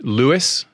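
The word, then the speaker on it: Lewes: were born in England I was is it pronounced Lewis it is very good right first time well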